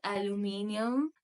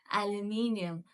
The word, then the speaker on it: aluminium: And this is not aluminium. Alu nahi hai ye. Alu nahi hai alu. It is aluminium.